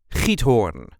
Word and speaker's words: Giethoorn: This is the way we say hornhorn. There is a light emphasis on the first part, but there are also